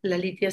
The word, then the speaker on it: Lalitya: Lalitia se escribe Lalitya.